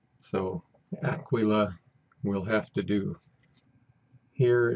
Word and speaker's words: Aquila: then down here is Aquila I'm pronouncing it as close as I can get to the way it's pronounced in Latin and Italian so Aquila will'll have to do